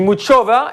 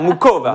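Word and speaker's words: Muchová: Moi, j'ai dit Muchova et Marie, elle m'a dit il faut dire Muchova. Non, normalement, tu ne prononces pas le H, c'est super compliqué.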